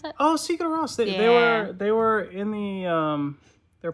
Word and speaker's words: Sigur Rós: How do you pronounce that? Oh, Sigur Rós.